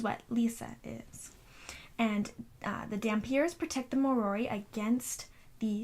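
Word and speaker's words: dhampir: how you say it it's DHA m p ir so that's how i'm i've always said it in my head is Dampier or a damn pyre which is a half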